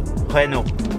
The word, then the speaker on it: Renault: It's Renault. I'm telling you right now, if you stopped any French person and you said, what does that say? They'll go, Renault.